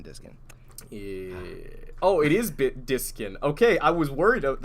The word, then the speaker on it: Diskin: Oh, it is Diskin. Okay, I was worried that I was saying your name wrong this whole time.